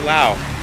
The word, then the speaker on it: Laos: But I do know now that it is pronounced Laos and not Lao. It is not a silent S.